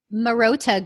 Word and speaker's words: Marotta: Is that how you pronounce it correctly? Marotta Group.